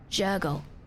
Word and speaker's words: Jergal: Jurgle. Jurgal? Actual question, chat. How do I pronounce that? Actual question. Jurgle? Jurgal? How do I pronounce that? Jergal. Gurgle?